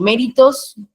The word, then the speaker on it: méritos: la voz en en en méritos se carga la voz en me y en camuflarse enlar